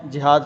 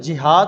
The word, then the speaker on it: جہاد: غلط تلفظ نہ ہو۔ جیسا کہ لفظ جہاد ہوتا ہے، اس کو جہاد نہیں پڑھا جاتا، یعنی جس طرح جہاز کا جیم ہوتا ہے اس کے اوپر زبر، اسی طرح اس کو